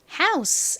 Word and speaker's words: house: 우 소리 난다고 말씀드렸고요 그리고 끝에 S 소리 나죠이는 헛개비 뭐 별다른 소리가 나지 않아요 그래서 읽어보면 house 이죠 따라해 보세요 house